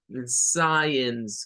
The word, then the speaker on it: science: Science con el sonido I y al final aparece un schwa.